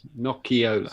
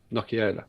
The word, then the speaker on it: Nocciola: Nocciola. So the I is an E. Got you. Nocciola.